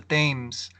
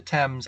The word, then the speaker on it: Thames: takes place again on the themes or the Thames I go back and forth on pronouncing that like the British way or just you know the way that it looks on the screen but but anyway as